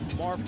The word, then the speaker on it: Marv: i hope fans understand we're not mispronouncing marv kiss's name there is a v in there it's marv his patent if his